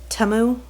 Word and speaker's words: Temu: I think it's pronounced it's not timu it's TAMU T TAMU TAMU um according to the Super Bowl commercial but um all right